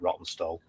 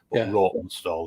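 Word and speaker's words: Rawtenstall: lived in um a little town called uh rotten stall or roten stall depending on yeah if you yeah r a w t n s l we call it rotten stall rotten stall if you really Posh so that's just north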